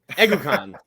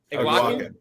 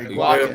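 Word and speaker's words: Eguakun: That's because you can't pronounce his last name. Egukan. I got Nope. it. No. Damn. How do you say Damn, I was Iguacan. confident too, Josh. Iguacan. Yeah. Iguacan.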